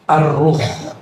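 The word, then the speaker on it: الروح: ke istilah kedua yaitu arruh bukan roh ya arruh kalau roh apalagi itu ya bacanya ar ar pakai alif lam ini teksnya menyebut alif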